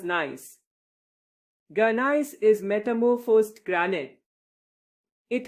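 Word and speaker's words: gneiss: Ganise pronounced as nice.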